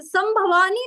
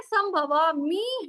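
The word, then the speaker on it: संभवामि: लेकिन उसको अच्छे से संभवानी नहीं है संभवामी है ठीक है परित्राणाय साधु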